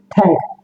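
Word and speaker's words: thank: আমরা বলতাম কি ট্যাঙ্ক। ট্যাঙ্ক বলতে হবে কি থ্যাঙ্ক।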